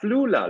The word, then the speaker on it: Flula: Yeah, Flula, like you have a flu in Los Flula, Angeles. Flula, Flula, yes, Flula, yes, Flula. yes. All right, Flula. Oh, thank you, Flula.